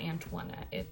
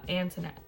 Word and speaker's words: Antoinette: It's not Antoinette. There's no twa in it. It's just Antoinette.